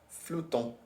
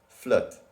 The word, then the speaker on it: flottent: So, on dit que les sorcières flottent. On dit que les sorcières flottent. This is a weird sentence. On dit que les sorcières flottent. On dit que les sorcières flottent. Yeah, you don't pronounce the T.